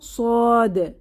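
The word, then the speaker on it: صاد: না এটা সদ সদ এটিও জিহবার আগা নিচের দাঁতের গোড়ায় চেপে তীক্খন আওয়াজে উচ্চারিত হবে এবং এটি আওয়াজ মোটা করে সদ সদ এটা বলার সময় আমাদের জিহবার গোড়া একটু উঁচু হয়ে ফুলে উঠবে অর্থাৎ এটি একটি মোটা হরফ বা উঁচু ধ্বনিতে উচ্চারিত হবে তো সদকে আমরা কিভাবে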